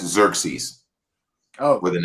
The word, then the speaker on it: Xerxes: rip from the god Cersei in Greek and Roman mythology. The God King. And just real fast, I didn't pull the picture because I ain't. And you're pronouncing that wrong. That's Xerxes.